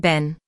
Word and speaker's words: Ben: It has a short e sound just like the word ten or pen. You can practice this by saying a sentence like Ben went to get a pen from the den.